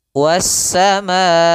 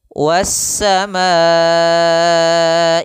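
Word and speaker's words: والسماء: Jadi di sini, 'was-sama'i'—kita tidak diperbolehkan mempersingkatnya menjadi dua ketukan. Karena dalam riwayat Hafs' an 'Asim, Imam Hafs dari jalur Shatibi, panjangnya empat ketukan.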